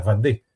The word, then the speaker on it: Vendée: francesa en español, porque si lo pronunciamos en francés, y tal como lo pronuncian los franceses, que cambian el sonido de las vocales, ellos dicen la Vendée, aunque lo podamos leer Vendée.